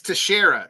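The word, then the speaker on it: Teixeira: I think it's Tashara because it's T X T E I E I R A. So to me, yeah, no, that the X always throws me off there.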